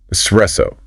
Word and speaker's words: espresso: S. Espresso. Hit that middle part hard.